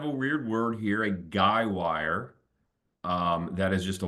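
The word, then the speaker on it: guy wire: is a called a guywire um I think I sometime called that a guide wire but I guess guywire is the correct way to say it uh you know something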